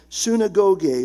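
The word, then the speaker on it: συναγωγή: a synonym of eklesia it's the Greek word pronounced sinagog which is translated into our English synagogue that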